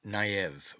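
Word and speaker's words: noeb: n-o-e-b but it is pronounced as if it were naive with the O having a short sound as OE if the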